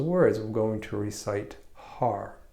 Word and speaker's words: Har: But when you pronounce Har, which is spelled H-A-R, you want to take the tip of your tongue and let it flick on the top of your palate. So it's going to sound like Hud.